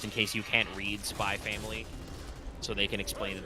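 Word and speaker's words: Spy × Family: actually I don't know is it actually said spy X family or is it just spy family it's by its family the x is silent apparently I don't know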